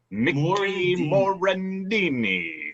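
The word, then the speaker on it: Morandini: that came in yeah mourandini oh i love you thank you stalker love kevin stocker he said his name wrong morendini correct that's the correct way of pronouncing everything yeah every syllable i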